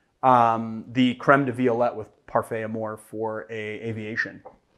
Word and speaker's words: Parfait Amour: Parfait Amour is actually, you know, people are gonna really bust me for that pronunciation. It's Parfait Amour.